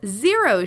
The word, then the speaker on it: Xero: Xero is spelled with an X.